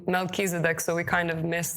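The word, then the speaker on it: Melchizedek: That's very interesting fact because in English we pronounce it like Melkisedc.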